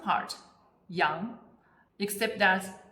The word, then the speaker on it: 羊: For example, character 羊, which means sheep, was first created in pictogram and it's pronounced as 羊.